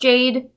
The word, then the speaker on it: JD: I know it's pronounced Jade.